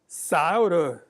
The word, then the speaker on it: Scioto: Shep look at that license tag he said Souder County I said you must be from Scioto County you're the only one that pronounced nobody realizes that and he says no